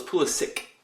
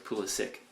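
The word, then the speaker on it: Pulisic: Dortmund because i' I've been told it's Pula sick actually he doesn't have the accent over the C so it's Pula sick I'll pronounce it how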